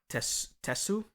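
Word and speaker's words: Tesshu: And he uses a Japanese swordsman, which I loved, and I'm going to butcher it, but I tried to get the pronunciation. It's Yamaoka Tesu. I believe that's how it's pronounced.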